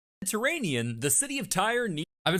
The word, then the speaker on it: Tyre: Tier or Tyre? I've been saying the wrong one. Mediterranean, the city of Tyre I've been saying tier for months while researching this.